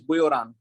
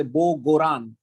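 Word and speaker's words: Göran: buran erickson okay and there are two dots on the o so this pronunciation is bhuyran all right otherwise in english we can say bo goran okay right so professor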